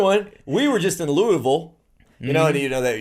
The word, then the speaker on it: Lewisville: you know that you they don't say lewisville no louisville it's all you almost don't even have the e sound it's just louisville louisville louisville it's almost yeah two syllables kind of like greenville